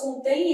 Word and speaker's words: contém: E na hora que eu faço contém, esse M vai ter somivocálico. Então vai ter som de i, contém vogal, som de ser vogal.